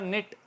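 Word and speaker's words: knit: आईएफ नाइफ इस तरह निट बुनना निटिंग जो हमारी व खवातीन बुनती स्वेटर वगैरह तो निट के साइलेंट रहा और एन आईटी की आवाज आई निट निटिंग इसी से निकला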